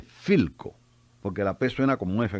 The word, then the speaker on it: Philco: aquel que está allí pilco dice el vendedor no no se dice pico la persona como efe se dice philco porque la persona como